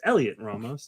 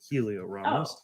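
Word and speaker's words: Heliot Ramos: and it is pronounced elliott ramos not helio ramos it's elliot like just like yep the h is silent i heard it on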